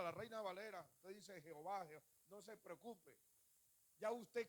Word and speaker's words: Jehová: Holland, la Camas, Jehová, que es la A larga, por eso lee Jehová, fíjame bien, Jehová, o sea, se estira la pronunciación, se llama A larga, la Camas. Entonces, Jehová o Yehová con la W.